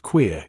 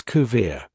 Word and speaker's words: queer: And thus the word queer is pronounced by them as kir.